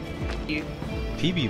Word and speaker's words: Phoebe: Phoebe wird das ausgesprochen?